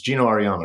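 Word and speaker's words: Geno Auriemma: Instagram and saw this uh real uh it's Gino Ariana right is that how you say his name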